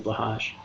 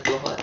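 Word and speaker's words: Blåhaj: You can get more stuff for Slutty Blahage. I could get way more stuff for my slutty We bahage. love slutty bahage. It's true. Yes. Bless you, slutty. Pronounced Blohai.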